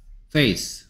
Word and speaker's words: face: Face. 아까랑 똑같은 짓. 아까 race 할 때도 rake라고 읽었는데 race였죠. 이거 race. 여기에 얘만 바뀌었어요. 그래서 뭐가 됐어요? Face. 그래서 C는 sk 중에서 이번엔 S가 됐네요.